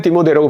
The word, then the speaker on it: 디모데: 이 디모데를 우리는 디모데라고 발음하지만 영어식으로는 이제 티모티 이렇게 발음을 하는데요.